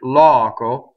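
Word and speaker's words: loco: Single C. Single K. Right? Closed O at the end. Open O. Right? So, Italians will not harmonize this word. The O will be open. The stress, the unstressed will be closed. Llɔco. Notice again that we will tend to do a double K, llɔco, if we open the vowel, right? So that takes good practice, right?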